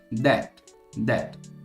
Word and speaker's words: debt: você consegue se comunicar, mas a pronúncia correta é debt, beleza? É mais ou menos parecido com that, T-H-A-T, that.